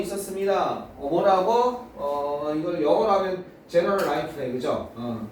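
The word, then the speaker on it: Generalife: 이걸 영어로 하면 제너럴 라이프네, 그죠? 뭐 이거 뭐 주거 아는 거죠? 저게 저런 걸로 불리는. 만약에 저게 스페인어로 한다면 G가 해로 발음돼요. 그래서 헤네랄 레이페 이렇게 되는 거예요.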